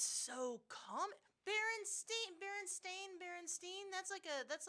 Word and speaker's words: Berenstain: The way it's spelled with the E and I, it's either Steen with the E at the end, behind the I, after the I, or it's Berenstain with the I preceding it's I the before E,